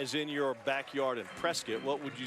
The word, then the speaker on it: Prescott: Prescott, Arizona. Wow. Pronounced Prescott, rhymes with biscuit. Don't say Prescott and out yourself, all right?